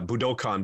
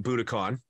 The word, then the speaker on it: Budokan: so we uh and Ryan's actually pronouncing it correctly it's it's uh Budokan but for all of us you know who uh the the big album live at booticon Cheap Trick uh every